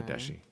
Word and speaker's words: Adeshi: Adeshi, not Dejai, Adeshi.